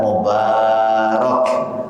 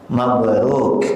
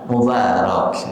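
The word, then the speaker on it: مبارك: Maka lafaz yang tepat adalah mubarok, bukan mabruk. Bukan mabruk ya. Ya, mabruk. Alfa mabruk kan ya. Ini pengucapan yang keli keliru. Yang tepat adalah mubarak. Muba mubarak.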